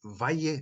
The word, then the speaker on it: vaje: The Torsberg shape, the offline of Torsberg, ni vaje marir. Vaje, short A, and so two short syllables, but even more important,